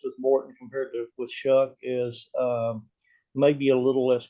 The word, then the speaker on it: Shough: Just want to make sure I pronounce that right. And Tyler, say his name. Shough.